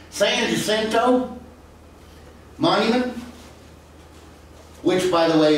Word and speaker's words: San Jacinto: deal money that the san jacinto monument was erected or excuse me because i got to say it like they said in houston san jacinto monument which by the